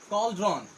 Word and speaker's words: cauldron: Next word है हमारा कॉल्ड्रॉन।